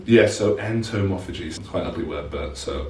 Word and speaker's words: entomophagy: entomophagy is that right am i pronouncing that correctly yes so entomophagy fine ugly work but so I don't like